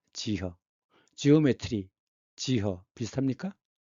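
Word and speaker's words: 幾何: 중국 발음 어떻게 돼요? 지허입니다. 지허.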